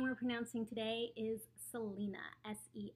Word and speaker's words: Selina: is her relationship with Aaron all about so Selena that's she's just a little girl um that's how to pronounce her name and I guess I'll see